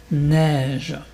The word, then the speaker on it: neige: Blanche neige. Neige, tu penses à un E accent grave.